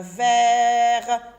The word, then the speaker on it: verre: Vous vous rappelez maintenant, je viens de vous dire quand le E est suivi de deux consonnes, le E se lit E, comme s'il y avait un accent ici. On ne met pas d'accent, mais on le lit E. J'ai deux consonnes, j'ai deux R, donc ce sont deux consonnes.